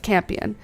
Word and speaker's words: campion: We pronounce it as rising rhyming with champion. You're right. Campion with room to spread.